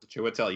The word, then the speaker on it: Chiwetel: Chiwetel, you said it right.